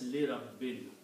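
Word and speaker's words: لِرَبٍّ: This will pronounced as Li Rabbin. Rabbun changes to Rabbin because of this letter Lam, which is a harf jar, or it's a preposition in English.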